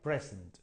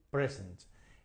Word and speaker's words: present: present okay O sea the Stress is on the first syllable o sea el el